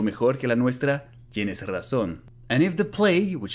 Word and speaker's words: razón: And again, the jota should have been harder, and razón should have been pronounced razón, with a Spanish zeta.